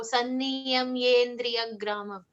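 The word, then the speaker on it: संयम्येन्द्रियग्रामम्: We do not need to pronounce the E separately. It comes along, when it gets joined, it merges with the letter ya before it. So Sanniyamyendriyagramam. So we don't need to leave a gap or pronounce the E syllable separately.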